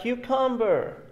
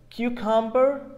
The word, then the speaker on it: cucumber: Some people may say cucumber without pronouncing R at the end of the word. This is called British English, not American English. So cucumber, it's okay. If you say cucumber, it's okay too.